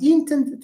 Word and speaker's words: intend: Do you say I intend to travel?